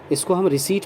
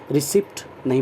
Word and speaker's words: receipt: रिसीट of this letter, इसको हम रिसीट पढ़ते हैं, रिसिप्ट नहीं पढ़ते। अक्सर लोग इसे रिसिप्ट पढ़ते हैं, पी साइलेंट रहता है, ओके। ये लेटर पी साइलेंट रहता है, इसे ध्यान रखें आप। रिसीट पढ़ेंगे, ओके।